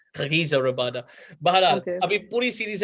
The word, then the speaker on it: Rabada: Even people say Kagiso Rabada. It's Kagiso Rabada. You got to put the Arab in there a little bit, Kagiso Rabada.